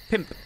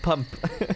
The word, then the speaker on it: pump: two super fight mums five is pimp in welsh happy it's not it's not pronounced pump happy pumping cafe i'm